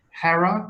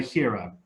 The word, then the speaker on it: Hera: know should you say Hera or should you say Hiro it's a matter of style it's up to you okay how do we